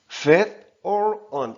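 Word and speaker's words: veteran: 발음 기호는 사전에는 이렇게 있고요. 그러니까 읽으면은 fat or on 이렇게 읽히게 됩니다.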